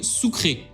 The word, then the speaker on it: sucre: centrale puisque jusqu'en 2000 la monnaie c'était le souk ray alors ça ce cri sucre mais ça se prononce ou créés attention parce que je vous